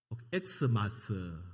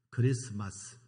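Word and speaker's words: Xmas: 제 강단 앞에 여러분 읽기에는 엑스마스 그렇게 읽을 수 있는데 그렇게 읽으면 안 됩니다. 엑스마스가 아닙니다. 크리스마스입니다. 크리스마스.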